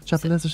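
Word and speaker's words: Chapelizod: I think it's more of a Chapel Lizard. Yeah, Chapel Lizard. You might even turn the D into a T, Chapel Lizard, if you want to.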